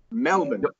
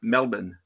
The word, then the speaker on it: Melbourne: but it smell it smell man night Melbourne Melbourne don't pronounce the are Melbourne Melbourne alright alright so excuse me Aziz if